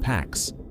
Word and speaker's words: P4X: P4X, pronounced Pax, the Latin word for peace, a cheeky nod to enforcing peace through punishment.